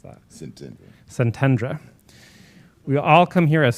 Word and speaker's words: Szentendre: The group of 20 gathered for 4 days in the Budapest suburb of, how do you pronounce that? Szentendre.